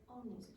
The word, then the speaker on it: honest: Honest. Honest, what's not pronounced? H. H, yeah, very good.